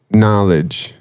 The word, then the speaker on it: knowledge: So knowledge, right? You got a K there you don't pronounce.